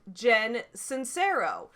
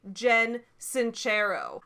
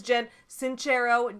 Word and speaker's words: Jen Sincero: made on this woman i have pronounced her name like jen cincero her name is actually jen sincero i pronounced it wrong it is italian somebody corrected me in